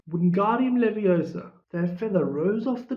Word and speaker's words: Wingardium Leviosa: You're saying it wrong, Harry heard Hermione snap. It's Wingardium Leviosa. Make the guard nice and long.